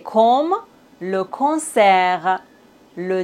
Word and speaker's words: concert: On ne doit pas prononcer S final. T comme le concert.